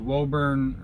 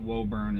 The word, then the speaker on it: Woburn: Front stack has to go over to Woburn. I don't know how they pronounce it. I've always pronounced it Woburn. It's W-O-B-U-R-N.